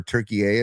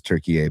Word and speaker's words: Türkiye: little happy for Turkey, or Türkiye is the correct pronunciation. I looked at it today. I'm like, what is the difference between Turkey and Türkiye? And it's just the correct pronunciation is Türkiye.